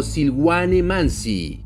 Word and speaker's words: Silwane Manzi: Pronunciación: Silwane Mansi podría transcribirse fonéticamente como Silwane Mansi. No hay un sonido vocálico distinto entre la sibilante inicial y la letra I, mientras que la A es increíblemente pronunciada. Todos mis informantes lo pronunciaron de esta manera.